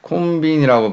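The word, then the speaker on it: コンビニ: 자, 그래서 치카쿠니 자, 콘빈이라고 발음합니다.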